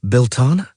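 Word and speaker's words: Belleteyn: full moon after Bellatine and Bellatine is pronounced Belana.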